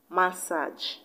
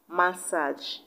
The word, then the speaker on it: massage: You see, despite two of them having the same spelling in the last syllable, they both have different pronunciations. And the option that the last syllable sounds like the last syllable of the given word is option B, passage. The A-G-E in message sounds like the A-G-E in passage.